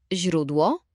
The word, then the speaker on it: źródło: A teraz źródło. Źródło. Prawie. Pamiętaj, że zi, miękkie, jest bardzo delikatne. Język musi być przy podniebieniu.